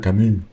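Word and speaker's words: Camus: algo de Albert cam creo que lo se pronuncia cam porque lo era francés Ah mira no no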